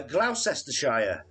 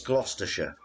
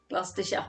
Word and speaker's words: Gloucestershire: we read them uh glaucestershire as the americans uh say it yeah it's gloucestershire gloucestershire yeah yeah oh yeah